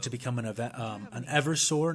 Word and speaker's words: Eversor: become an um an eversor not an avor sorry for my mispronunciation there um just AER it just sounds so easy to say rapidly but an Evers sore